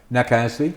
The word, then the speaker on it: Casley: The name of the is, how do you say Casley? Do I say it the wrong way? It's close. I say Casley. Casley? That's right.